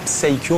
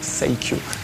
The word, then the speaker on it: Saikyo: Donc pour nous, ça se dit Tsaikyo, mais les Japonais le prononcent Saikyo.